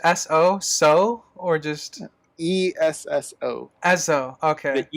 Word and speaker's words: Esso: E-S-S-O. Esso, okay. The E is silent.